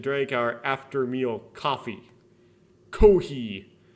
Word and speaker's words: コーヒー: Kohi. That's how you'd pronounce it if you're Japanese.